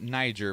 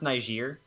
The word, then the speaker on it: Niger: also found out that only Americans pronounce it Niger by the way it is a isn't it and pronounce nice year it not quite it